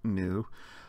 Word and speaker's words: nu: confusing because the lowercase new looks like an English letter V but as the uppercase suggests this letter actually makes an end sound like in nine or knife if we remember the silent K and the lowercase new